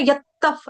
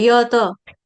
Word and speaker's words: यत: प्रसता पुराण यत में अभी ना आपने यफ ऐसे करके बोला डबल त नहीं है सिंगल त है य तत यत यत ठीक है बाकी अच्छा